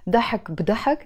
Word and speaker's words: ضحك بضحك: You see, when I say ضحك بي ضحك, pronounced as ضحك بضحك, literally you're saying laughter with laughter, which means full of laughter.